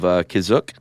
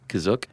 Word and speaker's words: Kashyyyk: to take place on their home planet of Kashyyyk, or Wookiee Planet C. Is that how you say it, Kashyyyk? That's how it's pronounced in the episode, the holiday special, but it's also pronounced different ways other times.